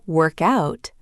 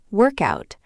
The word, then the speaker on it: work out: In work out, link the words together so it sounds like one word. Work out. Stress the second part. Work out.